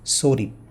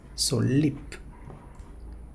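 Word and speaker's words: 솔잎: Next one, I have heard many people pronouncing it sorip, but it's solip.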